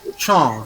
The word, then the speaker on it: champ: AM is on. So it is champ.